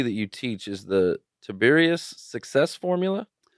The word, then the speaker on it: Tiberius: Something that I see that you teach is the Tiberius Success Formula. Is that how you say it, No, Tiberius? it's pronounced Tiberius. Tiberius.